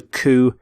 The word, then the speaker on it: coup: So note with the pronunciation of coup, you don't say the P, you don't sound the P at the end.